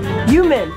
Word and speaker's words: Yuman: Yuman? Yep. Rhymes with human.